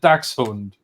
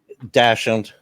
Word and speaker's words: Dachshund: I mean, in German I pronounce it Dachshund. Dachshund.